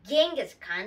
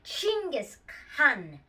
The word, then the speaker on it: Genghis Khan: It's not Genghis Khan. That's what most Westerners call him. It's actually Genghis Khan. That's the Mongolian way to say it.